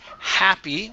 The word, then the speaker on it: happy: okay nice job uh this word here is pronounced happy with an ass sound instead of happy it is ha happy happy good one more time